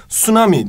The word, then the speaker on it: tsunami: okyanuslarda görülebilen bir şey Tsunami diye okunuyor İngilizce de t'yi biraz söylemeden geçiyorsun Bir de flood dediğimiz